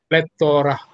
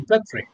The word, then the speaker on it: plethora: across, we normally say, many people say plethora, but actually it should be pronounced as not plethora, it should be plethora.